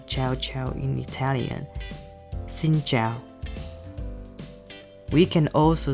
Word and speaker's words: xin chào: hello right in vietnamese we say xin zhao so sin sounds like sin in english and jail sounds like ciao ciao in italian xin zhao we can also say